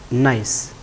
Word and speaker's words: gneiss: GNEISS is the spelling, but we pronounce that as gneiss.